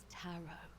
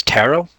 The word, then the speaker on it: tarot: The second T is silent. Our service. Oh, his tarot.